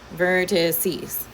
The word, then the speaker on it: vertices: That's how you say it, vertices.